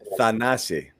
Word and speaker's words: Thanasi: Let's give everybody the correct pronunciation on it. Thanasi.